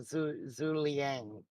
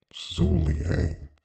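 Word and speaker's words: Zhuge Liang: No, Zuliang. Zugliang or however you say it. Zuliang.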